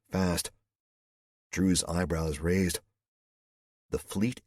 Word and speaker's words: FAST: I was fast, he said, pronouncing it fast.